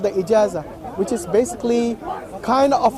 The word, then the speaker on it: Ijazah: How do you pronounce it? Ijazah. I-J-A-Z-A. Yes. Ijazah.